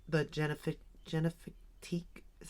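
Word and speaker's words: Génifique: honest their skin care I like the Jif genifique is how you say it skin care I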